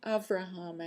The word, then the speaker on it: Avraham: was his full name Abraham Judah avraham actually it's a Hebrew pronunciation because he was born over there Abraham Judah Levy okay